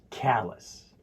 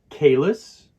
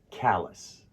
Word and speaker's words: callus: It's important to remember that the A in callus sounds like the A in cat.